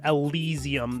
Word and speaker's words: Elysium: But yeah, that's Valkyria Elysium. That's how you say it. Yeah, it is Elysium, okay.